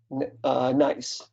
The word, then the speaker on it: gneiss: You're going to tell us how to pronounce that, right? Yeah, nice.